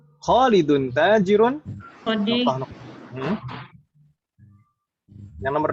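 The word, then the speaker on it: تاجر: Khalidun tajirun, taknya yang panjang, bukan jimnya.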